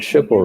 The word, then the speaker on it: Schipul: Yes, and Schipul rhymes with ripple.